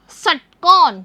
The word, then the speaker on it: षटकोण: ट के नीचे लगा हुआ है हलंत, यानी बच्चों इसे बोलेंगे हम आधा ट और इसका उच्चारण हम जल्दी करेंगे।